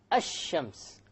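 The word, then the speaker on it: الشمس: where is the lamb silent silent it's not pronounced right I Shems however when i say i will comedy i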